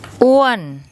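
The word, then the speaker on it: อ้วน: อ ้ ว น อ ้ ว น อ ้ ว น And that means fat.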